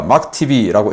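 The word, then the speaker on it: MACH-TB: 그 테스트를 하기 위한 표적기로 막TB 이렇게 마하라고 읽을 수도 있는데 이 약자니까 막TB라고 읽겠습니다.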